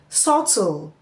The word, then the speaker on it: subtle: The written letter B followed by letter T at the end of words or syllable can be silent. That is, we find a silent B at the end of words where the B is followed by the letter T. For example, we have the word subtle, debt, doubt.